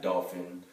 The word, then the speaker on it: Dolph: I know it's kind of weird his name is Adolf has been passed down generations it's kind of spelled like Adolf Hitler is spelled like dolphin ad olph it's Dolph you know Jenny says that